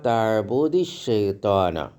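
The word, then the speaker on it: لا تعبدِ الشيطان: യബുദു തബുദു ലാ തഅബുദ് അപ്പൊ ഇവിടെയും ദാലിന്റെ മുകളിൽ സുക്കൂനാണ് അലിഫ് ലാം ശൈത്താന്റെ ലാമിന്റെ മുകളിലും സുക്കൂനാണ് അപ്പൊ തബൂദി ശൈത്താന ഉച്ചാരണത്തിന് ദാല് കസറിന്റെ മുകളിൽ കസർ വരും കമജാഫി സൂറത്തി മറിയം സൂറത്ത്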